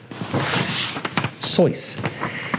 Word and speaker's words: Seuss: Seuss sois he pronounce his last name sois but he decided to